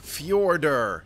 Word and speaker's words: Fjordur: welcome back to Arc fjorder that's right I know how to say it it's just stupid why are you putting the J in there if it's pronounced like a y you know get a